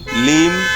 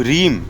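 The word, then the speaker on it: ह्लीं: आपको कहते हैं ओम रीम ओम रीम नहीं है लीम है ल ल ल ल ठीक है इट्स एल ओम लीम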